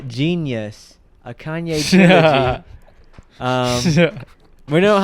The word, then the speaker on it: Jeen-yuhs: It's called Genius, a Kanye trilogy.